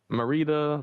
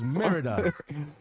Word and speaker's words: Merida: Ratatouille, Manuel, Marita, Launchpad, and Carl. Rita. Yo, can we talk about Wait, something real what? quick? Marita. They have Marita. That's how it's spelled. It's Merida.